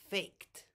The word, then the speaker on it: faked: I didn't fake it I faked with a t sound this is the only